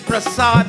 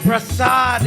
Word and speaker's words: Prasad: And when he heard that the prasad is ready, if somebody asks you, is a Hindu, what does the word prasad mean? Prasad is the correct word. Prasad is the correct word. Prasad is a mispronunciation.